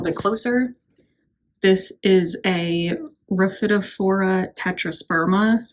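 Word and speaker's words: Rhaphidophora tetrasperma: closer this is a rafid for tetrasperma I believe is how it's pronounced and it's also known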